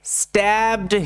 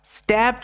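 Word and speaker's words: stabbed: এটা মাথায় রাখবে আর শব্দের শেষে ইডির ক্ষেত্রে শুধু ডি এর উচ্চারণ হয় ই এর উচ্চারণ কিন্তু হয় না এটা মাথায় রাখবে ঠিক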